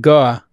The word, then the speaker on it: Guo: Gore, if you were in Boston, you said Goa, that would be how you would say it.